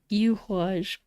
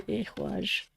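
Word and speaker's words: Ehwaz: I typically pronounce this Yuhwaj just because of the yew tree, but it's actually Ehwaj.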